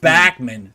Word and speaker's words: Bachman: Turner over as the correct pronunciation we've been pronouncing it wrong all these years in our interview Randy backman said backman Turner overdrive I did the same thing Bachmann